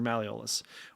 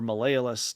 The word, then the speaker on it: malleolus: inside those ankle bones that's your malleolus or malayalus depending on how you pronounce it and so this was